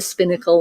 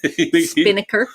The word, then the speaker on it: Spinnaker: We were up in the Spinnacle Lounge with hundreds of I'm saying it wrong. Spinnaker. Did I say it right that time?